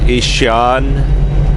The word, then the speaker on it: Asianne: AJ stands for Ishan John. Ishan spelled ASIANNE. But the John is spelled a little bit different.